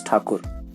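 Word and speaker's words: Thakur: tagore's original surname is takur britishers were not able to pronounce his surname correctly so they started calling him as tagur and since then he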